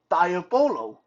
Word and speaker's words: diabolo: diabolo uh it's spelled d-i-a-b-o-l-o so yeah a little bit like diablo but diabolo what is diabolo diabolo